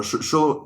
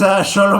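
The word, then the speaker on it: Xolo: Sholo. You have to pronounce. Okay, so you pronounce the French names, I pronounce the Mexican names. That's how it goes. Yeah. It's Sholo Mariduena, who's going to come in because he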